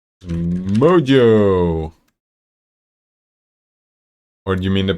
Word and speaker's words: Mojo: Moho? Mojo! Or do you mean the pronunciation?